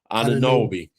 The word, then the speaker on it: Anunoby: I always say his name wrong. Big dude can nail it. Anunoby.